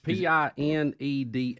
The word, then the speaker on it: Pineda: It's Pineda.